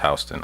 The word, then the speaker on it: Houston: Soho is south of Houston, spelled Houston, but pronounced Houston.